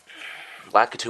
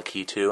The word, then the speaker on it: Lakitu: Lakitu or Lakitu, I have no idea. It's pronounced both ways, I guess.